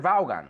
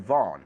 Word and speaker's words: Vaughan: there's Richard Brown and Richard valgan or Richard Vaughn if you know how to say it correctly but even he says